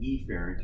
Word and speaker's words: efferent: see a carrot and it is pronounced a parent and each parent you want to be